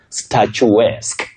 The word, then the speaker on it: statuesque: So, the correct pronunciation is statu-esque. Statu-esque. A bit tricky because almost everybody who tried didn't get it right. But you say statuesque. Can you try at home? Good. Statuesque. Just like the word picturesque.